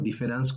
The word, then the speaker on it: différance: con A, que sabemos escribir este término différance con A o con E desde el punto de vista de la pronunciación en francés es igual, porque la pronunciación es igual si se escribe con A o se escribe con E.